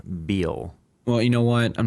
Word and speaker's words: Biel: Not Biel. Biel.